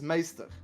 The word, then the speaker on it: maester: no, in general, it's meester, which stands for master. Oh, Maester, Yeah. like in Game of Thrones. Maester Yeah, right, Lewin. Maester, yeah. Yeah. That's the same way you pronounce it.